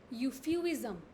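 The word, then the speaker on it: euphuism: यूफ्यूज़ से एक बहुत इंपॉर्टेंट टर्म निकल के आई, यूफ्यूइज़म. दो अलग अलग टर्म्स हैं, एक है यूफेमिज़म, वो बिल्कुल अलग है. ये है यूफ्यूइज़म.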